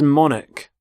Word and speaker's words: monarch: current queen so monarch so the CH there makes the sound Manik the start of the